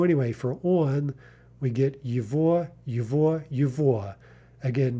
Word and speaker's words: его: So anyway, for on, we get yvo, yvo, yvo. Again, note that the g is being pronounced like a v.